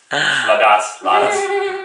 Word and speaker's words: Ladas: I learned from Homer Ladas. I don't know if I pronounced his name right. You pronounce it in the Turkish way. Ladas.